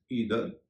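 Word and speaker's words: either: और आप देख रहे होंगे कि टीएच का उच्चारण द हो रहा है। फेदर, अदर, लेदर, वेदर, ईदर, इसे आइदर भी कहते हैं।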